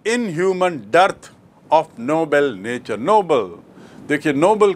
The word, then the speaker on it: Nobel: तो आपको स्पष्ट याद रखना चाहिए कि नोबल मतलब नेक, नोबल मतलब उच्च श्रेणी का, और नोबेल एक व्यक्ति का नाम जिसके नाम से पुरस्कार है, यहाँ बात हो रही है नोबल की।